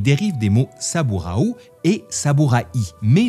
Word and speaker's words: saburai: En ce qui concerne le mot samuraï, à l’origine, il dérive des mots saburau et saburai, mais le i se prononce rapidement de façon à que ce ça sonne sa-bou-raye.